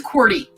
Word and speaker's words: Qwerty: to pronounce my channel my channel name is qwerty QWERTY you can just call me um it is a